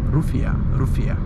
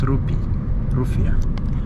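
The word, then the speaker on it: rufiyaa: or 80 80 maldivian is it rufia rufia not rupee planes are landing in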